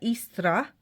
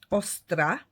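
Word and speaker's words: Eostre: Pagan Germanic goddess and you can pronounce her name two ways either istra or or ostra aara see and there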